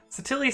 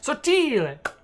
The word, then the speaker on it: Sottile: Basic PH says, as an Italian, Satilli sounds strange. Yeah, it does sound strange. It should be Sottile.